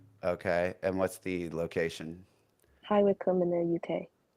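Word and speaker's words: High Wycombe: so make sure it's an aquarius Rising I've rectified that okay and what's the location hi Wick in the UK say that again hi Wick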